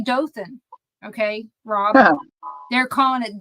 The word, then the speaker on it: Dothan: be from here but I know it's Dothan so it you've been around a million people so you know what I'm talking about it just makes you laugh when you hear it said wrong but my Mary Mariana